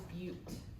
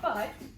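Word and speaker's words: butte: you pronounce it is beaut so say that with me okay so no it's not butt okay because there's an e there all right so a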